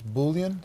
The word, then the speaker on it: Boolean: It's Boolean. Spell it. Yeah, Boolean.